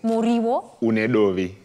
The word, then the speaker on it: Muriwo Unedovi: traditional dish that you need to help me pronounce. So what are we making today? Today we're making Muriwo. Muriwo. Unedovi.